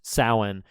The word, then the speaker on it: Samhain: is short for uh samhain which is it's pronounced samhain and it's spelled samhain uh s-a-m-h-e-i-n which is